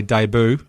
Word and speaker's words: debut: Jordan's Chicago Stadium debut when I say debut I'll emphasize the syllable boo because in this game